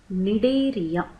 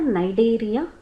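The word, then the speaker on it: Cnidaria: the philm Santa is also known as nidaria or nideria both can be pronounced and as a result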